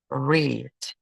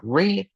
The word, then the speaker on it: read: Y la tercera categoría son verbos que tienen la misma forma en presente y en pasado, pero se pronuncian distinto, como el verbo read. ¿Dónde está? Aquí está. Read, que se escriben en igual en presente y pasado, pero se pronuncian distinto. En presente es read y en pasado es read.